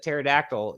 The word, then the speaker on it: pterodactyl: posum posum and also people don't know that pterodactyl you know is spelled with the p so it really doesn't